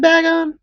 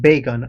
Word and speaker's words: Bagon: Finding that Bagon spawn in Meteor Falls is one of the most fulfilling. Is it Bagon or is it Bacon? I say bacon, like, you know, like bagel.